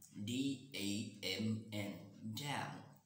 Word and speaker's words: damn: i have come up with the word damn d-a-m-n so we pronounce it damn now the meaning so the